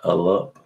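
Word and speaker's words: אַלּוּף: So they say it's pronounced Alup.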